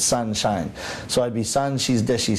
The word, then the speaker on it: 三輝: would be sangki but my master changed the ki which means shine he changed it to the english pronunciation so it's sunshine so i'd be sanshi's